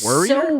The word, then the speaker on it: worrier: that's what he says a tremendous warrior warrior worrier worrier worrier there you go you said it right because he just